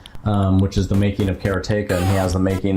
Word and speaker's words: Karateka: recently re-released Karateka, or he says Karateka. Yeah. The way he pronounces it. I've always said Karateka. Everyone said Karateka, and it is Karateka.